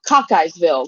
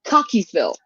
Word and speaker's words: Cockeysville: It looks like Cockeyesville, like you got a lazy eye kind of Cockeye? thing. Yes, like it's a Cockeyesville, but it's actually pronounced Cockeysville.